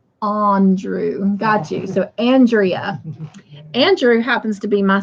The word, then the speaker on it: Andrea: Pronounce like Andrew, not Andrew. Got you. So Andrea.